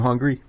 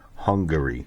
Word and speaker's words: Hungary: so uh Hungary um are you hungry I'm hungry no it's pronounced Hungary yeah that's what I